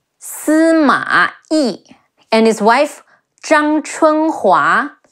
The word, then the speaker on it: Zhang Chunhua: Yi, and his wife Zhang Chunhua, Zhang Zhang, Chi Wu En Chun, He Wu A Hua, Zhang Chunhua, Sima Shi, Sima Shi,